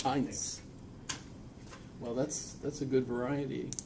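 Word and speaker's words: Heintz: That's just like the ketchup, but with the T before this. Heinz.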